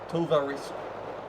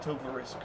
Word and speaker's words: Tovarich: Tovarich. That's how you say it, Tovarich.